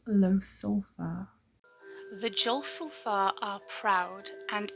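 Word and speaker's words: Ljosalfar: That's actually pronounced low sulfur.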